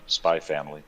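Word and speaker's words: Spy × Family: yeah bradford walker says the x is not pronounced spy family spy family yeah and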